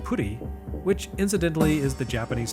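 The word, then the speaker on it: プリ: Of course, Pri in Japanese is pronounced puri, which incidentally is the Japanese term for pudding.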